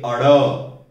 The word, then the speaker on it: ड़: इसको हम ड नहीं पढ़ेंगे, इसको हम पढ़ेंगे अड़ अड़ अड़ अण, नहीं नासिका का प्रयोग बिल्कुल नहीं होगा, अड़ और ये बोला जाएगा अड़।